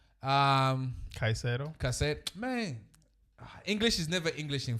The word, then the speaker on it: Caicedo: Enzo Fernandez, right next to Casidio. Caicedo.